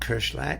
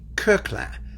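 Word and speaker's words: Koechlin: knew the guy, said to me, it's not Kirchlin, it should be Coquelin. That's how he preferred it pronounced.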